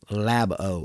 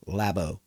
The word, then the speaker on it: Labo: Labo. It is pronounced Nintendo Labo. I've seen a lot of people pronounce that Labo. It's not Labo, it's Labo. Labo.